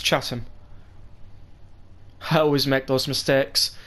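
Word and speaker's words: Chatham: to London 10 panras I might have said chattam it's chattam I always make those mistakes stations in the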